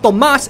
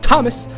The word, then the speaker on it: Tomas: It's pronounced Tomas, it's not Thomas, it's Tomas. I mean, it is Thomas, but it's Tomas, okay?